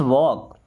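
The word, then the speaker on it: walk: why letter बाद में क्यों लेट्स वॉक देखिए लेट में अस लगा तो क्या बन गया लेट्स मींस चलो अब वॉक यहां पे एल साइलेंट है वॉक वॉक का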